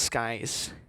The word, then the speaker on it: Sekis: And by the way, it's pronounced Skies. Don't ask how. It's Skies, not It's Sekis.